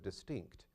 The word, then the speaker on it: distinct: And it's that T, CT sound at the end of distinct that makes distinct distinct.